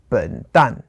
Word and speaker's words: 笨蛋: For example, like an idiot or a fool would be 笨蛋. Oh, okay. 笨蛋. So 笨 is fourth tone. And then 蛋 is also fourth tone.